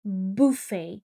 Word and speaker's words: buffet: Uh the main concern is the pronunciation. It's buffet.